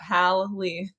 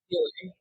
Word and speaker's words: Hallee: to pronounce it because Hallee is with one L. There you go, Hallee. I mean, yeah, you sound it out. It comes out Hallee, but often confused with Haley.